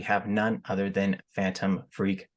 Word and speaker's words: Freq: well first off a lot of people actually pronounce it wrong a lot of people say Phantom freck I don't know why people say that but